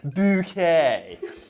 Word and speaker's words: Bucket: No, it's Bouquet. Is that for me? It says bucket on the envelope. It's bouquet. B-U-C-K-E-T. Bouquet. The accent on the second syllable.